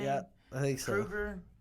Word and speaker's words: Kroeger: Kruger? How you say it? I think it's Kroger. Kroger. Something like Like that. like the spelled store.